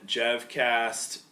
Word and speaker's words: JevCast: This has been JevCast 7. Rhymes with Jevon.